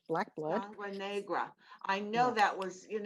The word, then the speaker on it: Sangre Negra: Negra, which means black blood in Spanish, black blood. Sangre Negra.